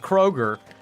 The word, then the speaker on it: Kroger: that right or like Americans will add the letter s when they're saying something like we have this popular grocery store that's Nationwide called Kroger and people call it